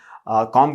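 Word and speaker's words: comb: कंघी करने को भी कंघी कहते हैं, कॉम कहते हैं एक्चुअली, कॉम, COM. B है स्पेलिंग, लेकिन एज I told you that B goes silent, so it will be there calm. It is there calm, right?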